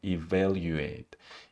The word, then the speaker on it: evaluate: evaluate event evaluate evaluate the first syllable e it's unstressed and the second syllable there there it's stressed evaluate evaluate evaluate voice voice voice